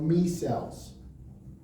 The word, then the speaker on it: micelle: It's spelled like micelle. Me cells. If you say micelle, I don't care too.